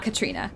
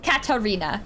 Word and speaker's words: Katarina: no it is yeah so Katarina oh no no no it's not Katrina no no no Katrina is different Katarina it is like Catalina Island there is a there there